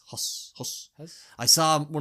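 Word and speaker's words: Höss: No, Huss. Oh, no? Yes, because it's Hoss.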